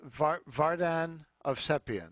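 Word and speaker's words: Vardan Ovsepian: bassist now is it barden how do you pronounce the piano player's name it's vardan of sepian he's a convenient pianist uh who uh i'm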